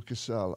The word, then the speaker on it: Casal: And Casal. I'm glad you said that because I didn't know how to pronounce Casal.